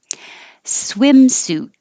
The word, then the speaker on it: swimsuit: Swimsuit. And you don't have to say the T, you can just hold your tongue in the T position.